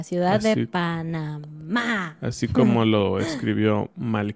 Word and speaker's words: Panamá: el primero ciudad de panamá y recuerden el acento va en la última y no en la primera ciudad del pana más así como lo escribió